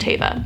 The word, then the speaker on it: Teva: It's pronounced Tay-va.